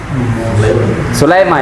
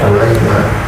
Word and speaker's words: Sulaim: Sulaimah ya. Iya kan? Sulaimah. Sulaim. Sulaim. Kita kita ee yang sering familiar kan Sulmu Sulaim. Maksudnya itu aslinya Sulaim ya kan?